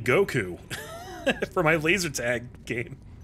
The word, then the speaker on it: Goku: my name, and she didn't know how to pronounce Goku. She was like, "Gaku? Go what?" And I was like, "You idiot! It's Goku!